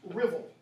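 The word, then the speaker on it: Ruthwell: in Dumfries Scotland and the crosses spelled Ruth well it's pronounced riddle stands 18 feet tall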